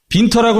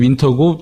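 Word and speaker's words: Winter: 빈터라고 나와 있는데 영문으로 따지면 윈터고 독일식 발음이 빈터예요.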